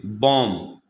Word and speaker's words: bomb: Number 1, अगर किसी लफ्ज़ में एम के बाद या टी से पहले बी आ जाए तो ये बी हमेशा साइलेंट हो जाता है। जैसे बॉम्ब, BOMB। तो हमने रूल ये पढ़ा है कि लफ्ज़ में एम के बाद या टी से पहले बी आ जाए तो वो बी लिखा तो जाता है लेकिन पढ़ा नहीं जाता। अब हम इसको बॉम्ब नहीं पढ़ेंगे बल्कि बॉम्ब पढ़ेंगे, बी साइलेंट हो जाएगा।